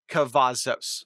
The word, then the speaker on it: Cavazos: Legend, got that. Cavazos. Yeah, I said that right.